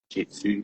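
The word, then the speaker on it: Jin Shin Jyutsu: It's 1 year into Jinshin Jitsu, pronounced Jitsu, spelled Jiu-Jitsu.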